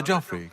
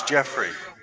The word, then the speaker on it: Jauffre: Hello, I'm brother Joffrey. Can I help you? Oh, I thought your name was Jeffrey. That idiot uh poorly aging, sarcastic PC witty gamer. Maybe he's been mispronouncing it.